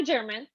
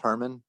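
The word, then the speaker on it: Germán: hear you now hi german hi uh my name is pronounced harmon so sorry hi herman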